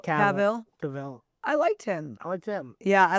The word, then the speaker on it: Cavill: Henry Cavill was a good one. That's how you pronounce his last name, Cavill. Cavill.